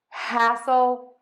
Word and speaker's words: hassle: let's try them all together hustle hustle hustle hassle hassle hassle I'm sorry that is so ridiculous